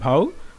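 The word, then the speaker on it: beau: আর এটাকে অনেকে বিউ বলে, বিউ না ভাউ মানে সুন্দর পুরুষ।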